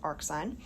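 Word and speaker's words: arcsine: Power like this um but either way we pronounce it as AR sign um and so or you can say inverse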